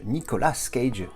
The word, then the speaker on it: Nicolas Cage: de terminer pig avec Nicolas Cage Nicolas Cage puisque en prononce à l'American ici parce qu'on est